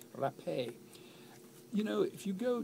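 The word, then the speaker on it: Rapée: I think there was an accent on the E just before the end, or the penultimate E, actually. Rapé.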